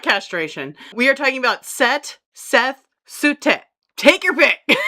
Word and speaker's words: Set: Sut is pronounced sutet. No, no, it's set. Okay. Well, it's pronounced set in other languages pretty much anywhere else around the world.